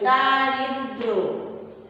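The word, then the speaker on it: দারিদ্র্য: জফলা, এটা বানানে হয়, কিন্তু উচ্চারণে এটা কি হবে, এই উচ্চারণে কি হবে জফলা উচ্চারিত হবে না, অনুচ্চারিত থাকবে, দারিদ্র দারিদ্র, ঠিক আছে।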